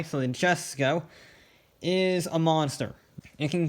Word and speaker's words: Jesko: Koenigsegg hypercars here, the Jesko. Yes, I know it's pronounced Jesko in Sweden, but no, we're not doing that. So the J, not a Y, so the Jesko is a monster.